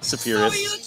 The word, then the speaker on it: Spheeris: Now the director, Penelope, how do you pronounce Spheeris. Your last name? Spheeris.